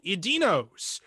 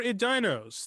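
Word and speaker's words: Edeinos: they're not actually humans they're called idinos or idinos this is a thing that people in tor really do argue about we're going to go with the dinos that's the pronunciation they're basically lizard people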